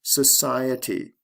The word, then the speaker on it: society: Social, society. Stress goes from the first to the second syllable.